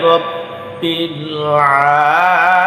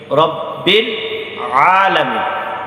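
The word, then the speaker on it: رب العالمين: আলহামদু আলহামদুনা আলহামদু আলহামদুলিল্লাহি রাব্বিল আলামিন। রব্বিল আলামিন, রব্বিল এক শব্দ, আলামিন আর এক শব্দ, এই জন্য রব্বিলা যেন না হয়ে যায়।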